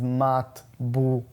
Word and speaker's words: matbucha: The way it's pronounced is matbucha.